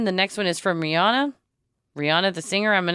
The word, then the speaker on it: Rihanna: And she pronounces it Rihanna. Rihanna? And in this interview, they asked her, is it Rihanna? And she said, no, it's actually Rihanna.